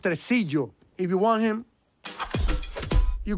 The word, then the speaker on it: Tresillo: It's pronounced tresillo.